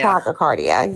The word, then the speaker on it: tachycardia: participate in a polygraph test because you have tachycardia or however it's pronounced, but your heart beats faster. It's tachycardia. Tachycardia, yes.